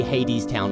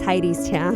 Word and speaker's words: Hadestown: even know because it's it's based on like Greek mythology and that's Hades right I would think so and also they say Hades town a lot during the